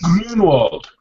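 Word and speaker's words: Grünwald: Grunwald. Come on. It's got an umlaut, man.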